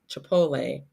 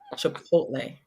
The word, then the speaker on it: Chipotle: because I've heard this why does everyone over the age of 40 pronounce Chipotle chipot instead of Chipotle that is hilarious because